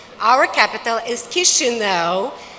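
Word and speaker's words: Chișinău: Our capital is Kishino. If you don't know how to pronounce it, you remember kiss me now. So Kishino, kiss me now is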